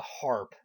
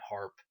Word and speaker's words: HAARP: uh conspiracy round uh harp i guess that's the way it's pronounced h-a-a-r-p and um basically the